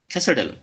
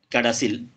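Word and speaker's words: CADASIL: যে ডিজিজটা নিয়ে আলোচনা করতে যাচ্ছি সেটা হলো ক্যাসেডেল এটার যদিও বা উচ্চারণ হবে ক্যাডাসিল কিন্তু এটার কেউ কেউ এটার উচ্চারণ করে ক্যাসেডেল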